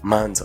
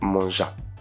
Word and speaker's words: manja: Par contre le J se prononce d. Donc vous prenez le D, prenez le Z. Les deux ensemble ça fait d pour dire je regarde regarder mz par exemple pour dire ouais elle est belle manza pas manja.